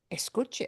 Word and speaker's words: escuche: So punching a different syllable, punching this in the middle, which doesn't need an